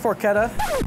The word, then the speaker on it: porchetta: What is porchetta? I'm asking for a friend. So it's pronounced porchetta.